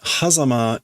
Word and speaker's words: 狭間: But hazama is maybe just like a fancy pronunciation.